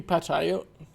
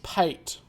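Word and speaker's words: pâté: Is that meant to be pate? It's pate. You didn't put the accent on the E.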